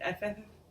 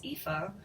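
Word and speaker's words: Ephah: old testament pronouncing it f out loud it was hysterical then i finally looked it up and it's ifa it's a very easy word but it's spelled ep h ruth 218 she took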